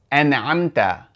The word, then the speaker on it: أنعمت: Likewise, when it comes to the word an'amta, siratal ladhina an'amta alayhim, we have to pronounce that hamza. We cannot say siratal ladhina an'amta. We have to make sure we pronounce that hamza. صراط الذين أنعمت عليهم. There has to be that glottal stop because this is the cutting hamza.